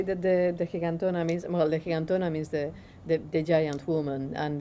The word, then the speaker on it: gigantona: It looks like gigantona, but in Spanish it's gigantona.